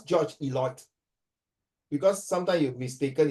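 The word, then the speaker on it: Eliot: Uh I will pronounce George Eloy because sometime you mistaken it's called George idiot.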